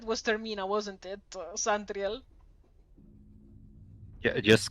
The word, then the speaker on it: Termina: It it's very Italian pronunciation because in Italian we do have a word that means end in Italian.